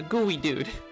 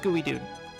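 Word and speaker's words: Geodude: A gooey dude. It's spelled geod dude. It's It's pronounced gooey dude. It's It's kind of like the gooey ducks.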